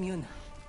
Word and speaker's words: Yoona: who are you i'm yoona yoon so the a is silent you want your sword